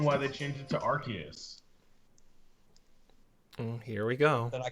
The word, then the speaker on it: Arceus: men pronounce it Arceus.